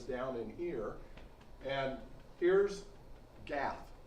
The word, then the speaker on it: Gath: Elah Valley is down in here, and here's Gath. It's actually usually pronounced Got in Israel.